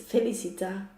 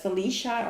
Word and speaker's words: Felicita: Pri, if you're asking about my name, it's Felicita. Like Felicidad in Spanish, happiness and luck. But it's like an abbreviation. How do you say that? It comes from Felicidad, but it is Felicita with a T. It's not, yes, I think people in the USA will pronounce it as Felicia or something.